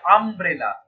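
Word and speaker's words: umbrella: ইউ আছে কিন্তু এখানে উচ্চারণ কি হচ্ছে আমব্রেলা আম নট ইউ সো এখানে জিনিসটা এন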